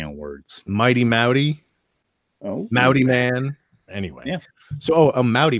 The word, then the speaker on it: Maute: Mao D so the last name is spelled M a ute it's spelt like saute with an M but it's pronounced like howdy with an M so if you say howdy I'm Audi your and it rhymes you're pronouncing it correctly any word play on